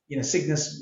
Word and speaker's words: CYGNVS: However, Signis with a U, which is the way it's spelled, there was somebody who owned that domain name and wanted a lot of money for it.